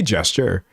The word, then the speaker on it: gesture: Okay, I say gesture. It's not Well, there's only there's only one way of pronouncing it, right? Gesture. It can't have a hard J.